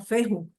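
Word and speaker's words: fehu: que suena como F se llama feju feju ellos pronunciaban la H aspirada y feju se asocia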